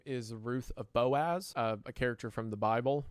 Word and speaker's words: Boaz: his wife is also Boaz's wife. Uh, he also doesn't pronounce it Boaz. He pronounces it Booze. So, Ruth of Booze.